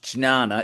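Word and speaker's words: ज्ञान: But Gana yoga jn a na which should be pronounced chinana. It's one of the only words in Sanskrit that you don't pronounce as it's written.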